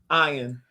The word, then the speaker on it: Ian: I do remember him Ian his name no his name was ion he pronounced as I oh ion zering I used